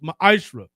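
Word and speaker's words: מעשר: Means 10th in the Hebrew is pronounced ma'ashra.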